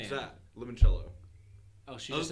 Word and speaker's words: limoncello: Oh, I don't like doing because You say I it do like that with a limoncello.